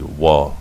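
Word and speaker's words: ו: The Wa allows you to have the O sound and the U sound, O and U, and which is further clarification about the insidiousness of the Vav. How are you going to get O and U from a V sound?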